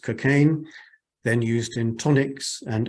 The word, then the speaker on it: cocaine: hemorrhages in childbirth and kukaim now usually pronounced cocaine then used in tonics